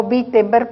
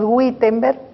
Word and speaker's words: Wittenberg: castillo de wittenberg y dijo wittenberg porque así se pronuncia en alemán aunque nosotros lo leemos guttenberg en la puerta de